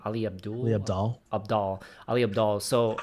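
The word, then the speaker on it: Ali Abdaal: Ali Abdal.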